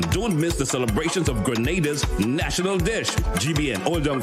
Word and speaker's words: Grenada: Don't miss the celebrations of Grenada's national dish.